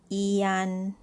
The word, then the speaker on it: 间: And the word jiān has J, which sounds as G as a consonant, and the vowel is I, A, and N. It's pronounced as jiān.